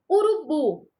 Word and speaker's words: urubu: Urubu. Urubu não tem acento, tá? A última sílaba é a sílaba tônica, é uma oxítona, porém não tem acento, tá bom?